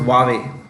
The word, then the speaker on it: Huawei: It's worried about the future because China has been deeply anti-Canada ever since the chief financial officer of Huawei, it's pronounced Huawei, was arrested in Canada at the request of the US government.